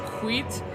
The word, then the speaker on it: skit: Did you know skit in Swedish is pronounced quit, and it means shit.